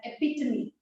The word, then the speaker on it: epitome: It's pronounced as epitome.